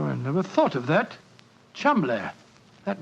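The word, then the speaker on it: Cholmondeley: had no reason to know that the name Cham is in no way pronounced the way it is spell but Jo I never thought of that Cham that name spelled c h o l CH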